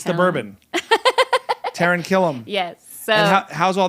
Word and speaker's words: Taran Killam: Taran Killam.